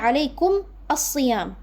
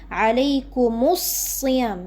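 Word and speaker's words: عليكم الصيام: Ini aslinya alaikum as-siyam. Kan nggak bisa dibaca, sedangkan kita mau sambung. Jadinya alaikumus siyam, mimnya jadi dhamma.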